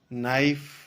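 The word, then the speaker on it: knife: न्यू जाना नल घंटा नाइफ के साइलेंट राहत है लाइफ में चाकू नेट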